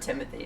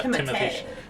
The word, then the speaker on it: Timothée: My favorite thing now is to refer to him as Timothée Chalamet. Oh yeah. Yeah. It's not Timothy. It's Yeah, that was a fun interview. it's Timothée.